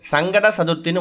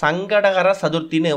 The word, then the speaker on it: சங்கடஹர சதுர்த்தி: வழிபாட்டை யாரும் தவற விட்றாதீங்க முதல்ல இந்த சங்கடகர சதுர்த்தி அப்படின்னு சொல்லக்கூடிய விஷயத்தை முழுமையா உச்சரிக்கணும் சங்கடங்களை ஹரனா தீர்க்கக்கூடியது அறுக்கக்கூடியது சங்கடங்களை தீர்க்கக்கூடிய சதுர்த்தி அப்படிங்கறதுதான் பெயர் ஆனா நிறைய பேரு சங்கட சதுர்த்தின்னு மொட்டையா உச்சரிக்கிறாங்க அப்படி உச்சரிக்கிறதால உங்களுக்கு சங்கடங்கள் தான் வந்து சேரும் அதனால முழுமையா சங்கடகர சதுர்த்தின்னு உச்சரிக்கணும் சொல்லப்போனா இந்த சங்கடகர சதுர்த்தி